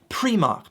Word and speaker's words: Primark: so funny to laugh at tourists when they pronounce them incorrectly. First one, very easy. You might see this and go, is that Primark? No. Primark.